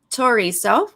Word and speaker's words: Toriso: It's Toriso with a hard T.